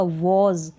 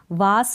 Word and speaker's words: was: ठीक है, इसका प्रोनाउंसिएशन होता है WAS का वॉज, वास नहीं बोलेंगे, आप पढ़ेंगे वॉज।